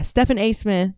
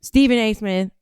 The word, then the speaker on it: Stephen A. Smith: Stephan A. Smith. Stephen A. Smith. I always say his name. I know it's not Stephan. I don't know why I do that.